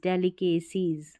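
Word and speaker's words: delicacies: लेते हैं, ट्रेडिशनल पारंपरिक, डेली डी ई को यहाँ डीली करके नहीं पढ़ेंगे, डी ए डे एल आई ली के सीज, डेलिकेसीज, डेलिकेसीज, डेलिकेसीज यानी कि स्वादिष्ट, स्वादिष्ट व्यंजन उसको बोलेंगे डेलिकेसीज।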